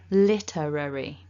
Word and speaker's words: literary: Depending on what your native language is, you might find it quite tricky to pronounce this word because of the L and the R sounds being all together there.